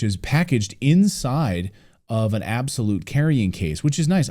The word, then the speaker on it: Abxylute: on here is the absolute cloud gaming console yes it's pronounced absolute even though it's spelled like that a BX y l